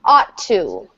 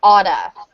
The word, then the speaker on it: ought to: Ought to. Ought to. Ought to. But in fluent spoken English, it will sound like oughta.